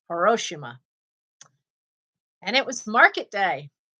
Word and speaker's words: Hiroshima: an aunt who's japanese she's from hiroshima not hiroshima that's not how it's pronounced it's hiroshima and it was market